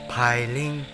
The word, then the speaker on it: Pailin: to cambodia bilinguals known to the thai as piling type pronunciation piling this is still frightened